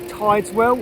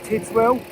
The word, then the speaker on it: Tideswell: Now, this is the little village of Tideswell, or Tidswell. I think it's pronounced Tideswell.